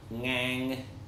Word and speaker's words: ngang: So the even tone is called ngang, and this is also a sort of phonetically difficult word for English speakers to pronounce because it begins with the ng. So we have ng at the end of the word, but not at the beginning of the word, and this can be difficult.